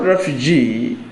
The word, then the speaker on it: refugee: that word Refugee Refugee in the word Refugee stress is on the last syllable syllable refug G the